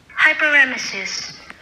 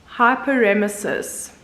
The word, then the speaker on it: hyperemesis: And this is how you say it, apparently. Hyperemesis. Hyperemesis. Hyperemesis. So they say you pronounce it hyperemesis.